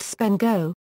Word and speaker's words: SPNEGO: Simple and protected GSSAPI negotiation mechanism often pronounced spendo is a GSSAPI pseudo mechanism used by client server software to negotiate the choice of security technology.